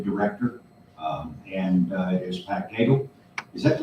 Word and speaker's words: Cagle: Preston County, the West Virginia County Commissioners Association has recently hired a new director, and it is Pat Cagle. Is that the right pronunciation?